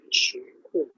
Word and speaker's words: 石库: The pronunciation is called 石库.